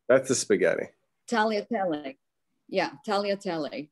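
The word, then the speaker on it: tagliatelle: the spaghetti italia yeah taliatelli the g is silent it's lovely i didn't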